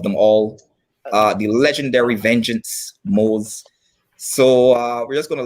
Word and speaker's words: Mohz: I go by the alias of Mohz. It's spelled M-O-H-Z.